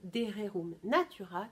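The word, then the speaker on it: De Rerum Natura: les pays anglo-saxons, moi je vous la prononce à l'anglo-saxonne, Dererum Natura, qui veut dire au sujet des choses de la nature en latin.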